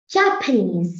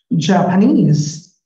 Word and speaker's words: Japanese: Japanese. No, you were wrong. It's, Japanese. no, honey, it's knees is stressed here. Japanese.